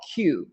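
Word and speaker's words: Quuu: And then there's another company called Q, which is spelled Q-U-U-U, and they're an aggregator of online articles.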